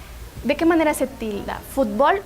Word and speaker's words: fútbol: En cambio, sí vamos a tildar cuando decimos fútbol, porque toda la fuerza de voz recae en la primera sílaba.